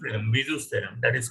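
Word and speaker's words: Bézout: The pronunciation is Bezout.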